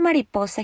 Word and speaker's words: mariposa: ma Li Paul Sam Mariposa follows rule number one because the naturalist rest of the world falls on the next to the last syllable the last syllable is sad and the next to the last level is poor I capitalized Paul so that you can see that's where the stress goes Mariposa ends with a